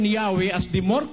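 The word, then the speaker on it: Yahweh: While inclining to view the pronunciation Yahwe as the more correct way, we have retained the form Jehovah because of people's familiarity with it since the 14th century.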